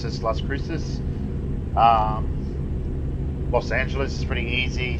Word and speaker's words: Las Cruces: got Las Cruces, Cruces, which doesn't the way it's spelled, it sounds like Las Cruz. but I know that it's actually pronounced as Las Cruces.